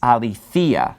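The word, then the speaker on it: ἀληθείᾳ: So it's pronounced a little bit differently because the accent is falling on this later syllable. That accent mark's right above the iota there. And also you have that iota subscript. Now remember, the iota subscript is not pronounced. It doesn't change pronunciation.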